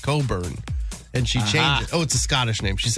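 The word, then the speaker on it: Cockburn: That's But you pronounce it Coburn and she changed it.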